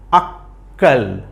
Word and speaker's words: আক্কেল: আক তারপরের অংশে কেল আক্কেল আক্কেল তার মানে ক এর উচ্চারণ কয়বার হইলো দুইবার হইলো তাইলে এখানকার প্রত্যেকটা শব্দেই